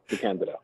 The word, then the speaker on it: DeCandido: by now but still it is in fact the candid all righty that'll work work I'll do that